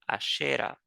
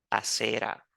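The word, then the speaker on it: Asherah: su compañera, su esposa, conocida bíblicamente como Ashera, o literalmente como lo pronuncia la Biblia, Acera.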